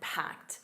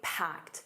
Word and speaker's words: packed: And notice that packed, a soft t at the end, packed. Now the jam is optional. You can simply say packed which means very busy.